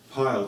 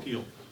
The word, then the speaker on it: Pyle: I'm going to be setting up services for February, and next week we're going to have Jason Pyle. Does he say his name Pyle or Peel? Peel.